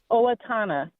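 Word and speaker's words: Owatonna: Hi, I'm calling from Owatana, Minnesota. Owatana. Nice little Indian name. Native American. How do you pronounce it? Yes. Olatana.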